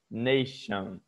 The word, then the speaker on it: nation: Então, o som do tion pode ser falado como chon, sem o i, seria como se fosse x-o-n, ok?